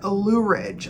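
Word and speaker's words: Loughridge: So the artist that I could not read is Freeman Luridge. I think that's how you pronounce his name, Freeman. So there's an F here and I could read the F. Luridge, L-O-U-G-H-R-I-D-G-E.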